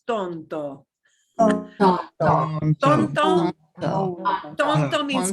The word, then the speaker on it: Tonto: Here's a word that, ooh, we hear this geographically here, but Tonto National Forest is not Tonto. It is Tonto.